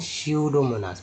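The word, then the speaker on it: Pseudomonas: जैसे यहाँ क्या पढ़ते हैं, स्यूडोमोनास, पी को साइलेंट रख दिया गया है।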